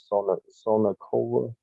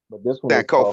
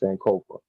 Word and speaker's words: Sankofa: that I'll post, and you could look on Sonakova. Was it Sonakova? How you say it? Sonoka 180. oh, I'll post it on the site, and then okay. this one is Sankofa. talking about how, yeah, Sankofa.